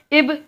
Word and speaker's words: Ib: तो इसका उत्तर है एक तो है इब, जिसे इंग्लिश में इसकी स्पेलिंग है IB, ये उड़ीसा में है, और